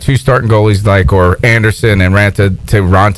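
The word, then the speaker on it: Raanta: Is that when we had the 2 goalies, the 2 starting goalies, or Anderson and Ranta?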